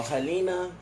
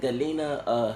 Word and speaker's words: Gelena: All right, so Helena is Helena. Is it Gelena? Helena. Because sometimes G in Spanish is pronounced as a H.